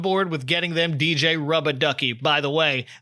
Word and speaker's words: Rubber Ducky: Flash is on board with getting them DJ Rub-a-Ducky. By the way, the captions and every wiki that covers this episode spells out Rubber Ducky, but everyone in this cartoon pronounces it Rubba, and so shall I.